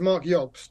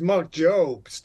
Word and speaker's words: Marc Jobst: it going Mark good it's ashy's Mark yobst but I knew I got it wrong the Americans always says Mark jobst yeah welcome Mark J